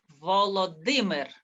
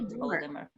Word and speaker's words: Volodymyr: Volodymyr. Volodymyr. Yeah, that's right. Volodymyr.